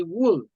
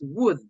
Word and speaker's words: wood: Just little things to improve, like pronunciation of, for example, you don't say wool, it's wood. Wood.